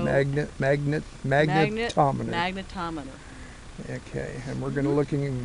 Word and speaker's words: magnetometer: So, you know, this is a magnometer. Is that how you pronounced it? Magnet. Like a magnettometer. T O magnet. Magnet. Magnetto. Magnetometer.